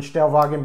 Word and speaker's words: Stellwagen: by them it's uh i don't know if they pronounce it stellwagon or stellwagen like it's german w-a-g-e-n but anyway i'm gonna go with german stelvogen brew company this is called